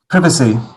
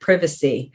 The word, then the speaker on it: privacy: long eye pronunciation and number four privacy privacy i love the way that you guys pronounce this word privacy uh but in the u.s we say privacy privacy private privacy i actually say privacy